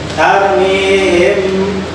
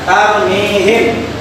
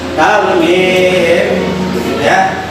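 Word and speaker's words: ترميهم: Nah ini ada mim mati bertemu dengan ba, tarmihim, maka bacanya dengung. Tidak boleh dibaca jelas, tidak boleh dibaca tarmihim, tapi dibacanya tarmihim.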